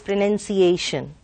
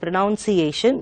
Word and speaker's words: pronunciation: And here let me tell you that it is pronunciation. And most of us tend to pronounce it pronunciation, but it's wrong.